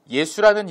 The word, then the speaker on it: 예수: 히브리식 표기와 헬라식 표기가 다르기 때문에 읽는 것이 달라서 여호수아, 예수아라고 구약에는 발음이 되었지만 신약시대에서는 예수라고 발음이 되는 것이죠.